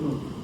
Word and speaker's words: Mu: Oh, The M, the letter M, but they pronounce it in a Latin way. yes. It's called it Mu.